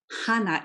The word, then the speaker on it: Hana: yes your name hannah hana hana is how it would be pronounced in japan i think um do